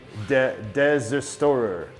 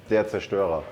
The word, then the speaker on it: Der Zerstörer: Conan Deserstorer. How do you say that? Der Zerstörer.